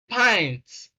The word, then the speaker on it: pint: okay question number six the given word is pints pints i is a we have a diphthong sound i i all right as in ice pint then option a